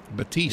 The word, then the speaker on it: Batiste: I'm looking at the 65 possibly involved All right, so how did Donnie say to pronounce his last name? It was Batiste.